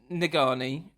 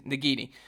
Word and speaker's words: Nagini: the sword and kills negani nagani I can never say her name nagini oh it's nagini kills nagini and then